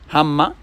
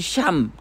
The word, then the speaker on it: Ham: écrit dans la Bible on dit cham qui sont déformés en cham qui normalement se prononce Ham.